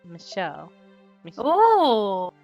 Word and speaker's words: Michel: correction they said that the name is the French spelling and that's pronounced Michelle Oh which gives me some